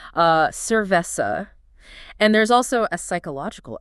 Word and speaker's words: cerveza: The locals there speak with distinction, meaning there's a crisp difference between an S sound and a soft C or Z. Oh, like the word cerveza. Right, cerveza.